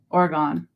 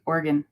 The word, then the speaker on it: Oregon: Oregon okay are gone I always say it wrong I grew up in Vermont so we always called it um Oregon but it's really Oregon you gotta say it fast it is a motorcycle